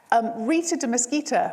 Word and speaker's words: Rita de Mesquita: Rita de Mesquita, which is a wonderful name. I realised it rhymes, Rita.